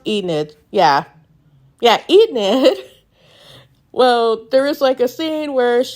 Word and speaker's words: Enid: Yes, pronounced Enid.